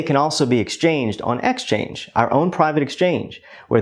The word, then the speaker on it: Xchange: Yes, Xchange. It's pronounced like exchange, but it's spelled a little bit differently.